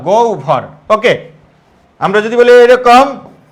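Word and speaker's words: গহ্বর: তাহলে এখন আমরা যদি বলি লক্ষ কর এরকম যদি বলি গহবর তাহলে এটা কি হবে এই গ এর সাথে কি আছে অ গ এর সাথে কি আছে অ তাহলে হবের পূর্ব আছে তাহলে কি হবে গ এর সাথে আছে হটা কি হবে ও গ তারপরে কি ভর গভর ওকে আমরা যদি বলি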